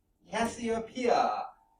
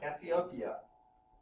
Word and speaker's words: Cassiopeia: Cassiopeia, or Cassiopeia. I'll spell it for you.